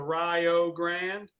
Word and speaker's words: Rio Grande: at Rio Grande and he pronounces it the Rio Grande for all the folks out there that need help with that think Rio like Ohio Rio like Ohio so